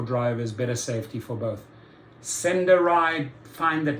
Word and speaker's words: SendaRide: SendaRide, find that name rather strange, doesn't sit well with me, but okay, for those who need non-emergency medical transportation, SendaRide has about 20 drivers in the Austin area